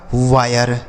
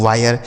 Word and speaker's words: wire: WIRE इसे पढ़ा जाएगा वायर। क्या पढ़ा जाएगा दोस्तों, वायर। W से हुआ आई का उच्चारण आए, RE से र, लिखा है वायर।